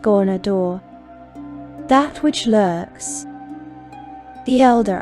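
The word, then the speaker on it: Ghaunadaur: He is Garnadar, pronounced Gornador, that which lurks, the Elder Eye.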